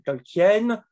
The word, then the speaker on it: Tolkien: affirmation de John Ronald Royal Tolkien je le prononce à la française extraites d'une lettre de